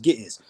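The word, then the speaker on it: Ge'ez: It's pronounced Gittiz.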